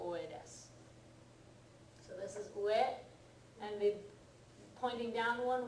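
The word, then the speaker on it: 上: Okay, so for example, yes, it's pronounced ue.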